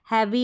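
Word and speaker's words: heavy: करके इसका उच्चारण रहेगा, ई ए का उच्चारण ए। जैसे कि ह ए, वी को व, ई लास्ट में है ना, हैवी हो गया, हैवी, हैवी का मतलब भारी।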